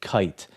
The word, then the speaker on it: kite: In other words, think of the word kite. Kite has an I, which has a long I sound. The I says its name, and the reason is because there's a silent E at the end.